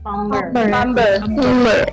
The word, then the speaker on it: plumber: Plumber. How do you say it? Plumber. Plumber. So with a silent B. Jadi B-nya nggak dibaca.